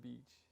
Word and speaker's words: beach: I was saying bitch instead of beach.